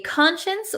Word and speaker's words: conscience: What is a conscience? Well, let's take a look at the pronunciation first. We pronounce it consience. Conscience. So, even though it looks like science here, we're going to say shins.